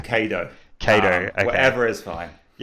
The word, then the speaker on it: Cado: I don't care how you pronounce it, but I pronounce it Cado.